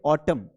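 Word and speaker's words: autumn: N silent होता है जब वो एम एन होता है। यानी कि जब भी एम और एन आएगा तो ये एम को प्रोनाउंस करना है। एन को नहीं करना है।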